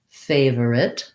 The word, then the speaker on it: favorite: my favorite book that it's smooth and fluent to just do the two syllables and so this is definitely a word where the spelling doesn't really match the sounds we don't have any kind of or sound an i followed by an e usually says the i